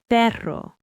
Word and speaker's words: perro: But but two Rs together, the double R, are strong and rolled. Perro dog.